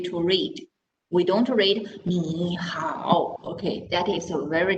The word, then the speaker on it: 你好: So we change the first word into second tone. That's why when we say hi to people, we use 你好. Okay, can you hear the difference? 你好.